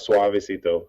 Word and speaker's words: Soavecito: Suavecito.